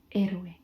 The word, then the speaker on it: héroe: And then if you had héroe, which is hero, you would say héroe, héroe, because the H is silent.